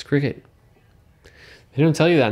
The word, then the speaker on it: Cricut: icon or something like who would have thought it's like cry cut it's obviously nope it's cricket they don't tell you